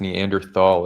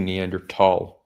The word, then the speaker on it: Neanderthal: It's not even technically pronounced Neanderthal. It's technically Neanderl, but no one says that.